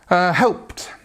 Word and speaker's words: helped: Helped, helped. Again, we have this pt sound, pt, helped.